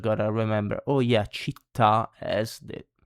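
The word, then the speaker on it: città: Then we have the written accent on the last vowel. Usually that is like chita, city, and cafe, coffee.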